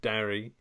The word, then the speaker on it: Darry: Yeah, we start with Trish and Darry. Darry? Is that right? Yeah, Derry. But his name's Darry, but I think they say it like Derry.